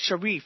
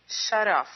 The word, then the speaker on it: Sharaf: And your last name is Sharif, correct? Sharaf.